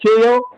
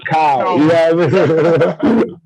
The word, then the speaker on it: Kao: When they see my name, they're like, KO. I'm like, oh, nah, it's Kyle.